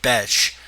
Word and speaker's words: Bethe: I think you're supposed to say her name Betch because it's Bethe, which is the Brazilian version of Beth, which I believe is Betch, but they just say it Betch on the UFC cards, and her last name